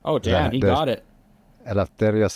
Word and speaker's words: Eleftherios: Eleftherios Soleas.